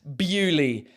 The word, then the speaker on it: Beaulieu: I've based my career on making fun of French people, and they pronounce this Bewley.